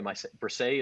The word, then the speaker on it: Bresee: It shows you how much the Saints thought of Bresee. And by the way, Bresee is how we pronounce it? Bresee.